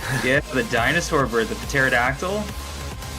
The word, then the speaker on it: pterodactyl: Yeah, the dinosaur bird, the pterodactyl. The P is silent.